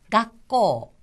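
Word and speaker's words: 学校: 쓰가 쓰인 건데요 초음이의 각고 자 각고 하는 것은요가 다음에 잠시 숨을 멈추듯이 각하고 발음해 줍니다 각고 각고 학교란 뜻이었습니다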